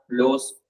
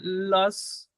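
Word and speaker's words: los: भी चेंज करना पड़ेगा, लोस लोस कोचेस, लॉस नहीं लोस, लोस लोस कोचेस।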